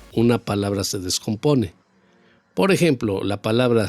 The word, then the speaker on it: ejemplo: si no se escucharía ejemplo tampoco en la palabra en la sílaba plo que se escucharía ejemplo Entonces el golpe de voz va en la palabra gem ejemplo Y esa sílaba al